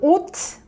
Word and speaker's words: 옷: And when 시읒 is in 받침, so 옷. So this one is same as 디귿 받침. So you shouldn't make that s sound. So you shouldn't pronounce it 옷.